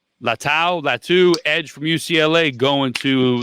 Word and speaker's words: Latu: have Lou if I'm saying it correctly lat latu Edge from UCLA going to it's Leu Leu first of all Le Leu L it's Leu